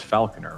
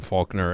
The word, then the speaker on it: Falconer: You know it's Falconer, right? Like the bird falcon? I like saying Faulkner and, you know.